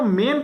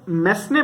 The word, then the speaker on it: mesne: ये मीन profit है, इसको कई लोग मैसने प्रॉफिट बोल देते हैं क्योंकि स्पेलिंग ऐसी है MESNE, इसको हम मीन प्रॉफिट बोलते हैं।